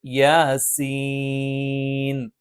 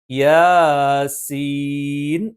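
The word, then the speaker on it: يس: വന്നാൽ അത് മദ് ലാസിമാണ് സീൻ ഇവിടെ ഉച്ചരിക്കേണ്ടത് യാസീൻ മറിച്ച് യാസീൻ എന്ന് ഉച്ചരിക്കാൻ പാടില്ല യാ എന്ന് സാധാരണ ദൈർഘ്യത്തിൽ നീട്ടിയാൽ മതി സീൻ എന്നുള്ളത് കുറച്ചധികം നീട്ടണം അവിടെ എന്താണ് മദ്ലാ നാസിമാണ് ഇത്തരത്തിൽ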